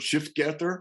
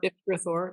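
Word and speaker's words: shifgrethor: And isn't this what I can't pronounce the word, Shiftgether? Shiftgrithor.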